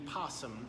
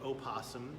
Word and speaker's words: opossum: none other than the possum or opossum I checked with my friend Miriam Webster and both are correct pronunciations so we're gonna pan